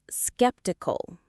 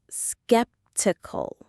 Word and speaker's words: skeptical: It has a K sound in the middle. Skeptical.